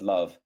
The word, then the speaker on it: LOVB: of League One Volleyball, otherwise pronounced as love, the first fully integrated youth to pro volleyball league in the United States.